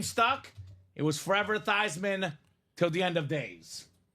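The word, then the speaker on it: Theismann: and said Hey Joe we know your family name is thian we know you've been thieman all your life let's change the pronunciation of your name to thyman so we can say thyman for the Heisman Joe of course being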